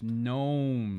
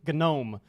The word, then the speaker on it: gnome: pre-ordering at nerds me/ gnomes and remember let's go there's a silent G there yes gnome gnome oh oh gnomes check